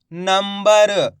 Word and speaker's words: नंबर: की मात्रा नम दोस्तों यहां पे आधा मा का उच्चारण निकल रहा है किसका आधा मा का गौर से सुनना है आपको नाम अनुस्वार की मात्रा नम ब र तो मिलके बन जाएगा नंबर इस तरीके से अपन